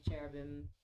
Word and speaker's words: cherubim: we got the saraphim cherubim I totally mispronounced cherubam thank you I mispronounce lots of things.